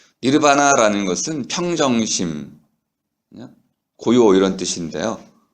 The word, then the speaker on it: 니르바나: 우리가 흔히 말하는 열반이라는 세계에 들어간 니르바나에 들어가는 너바나라고 영어로 발음하는데요. 좀 촌스럽습니다. 너바나가 아니고 니르바나입니다. 니르바나라는 것은 평정심, 고요 이런 뜻인데요.